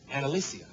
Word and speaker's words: Ana-Alicia: Okay, your name is spelled A-N-A, then there's a hyphen, then there's A-L. So I'm thinking Ana-Alicia. And apparently the A is silent.